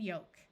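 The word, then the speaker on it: yolk: the p is silent two words follow this pattern with a long o and a silent L folk and yoke and two more common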